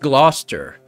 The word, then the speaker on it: Gloucester: you even pronounce that Glouster gler oh it's pronounced gluster the trouble is that